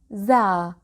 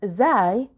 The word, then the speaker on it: ز: Za. Some people call it zai, which is also correct, but I'll go with za.